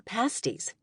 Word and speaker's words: pasties: Wait, what are pasties? Taylor asked me. She was from Toledo, Ohio. She could tell you all about Ponchki, but not a thing about pasties. Pasties. Rhymes with nasty.